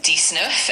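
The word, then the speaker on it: dix-neuf: 19 is dnf and it's spelled D I X N E UF.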